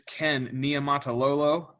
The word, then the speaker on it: Ken Niumatalolo: in annapolis maryland and the head coach is ken nia matalolo yes that's how i s how you say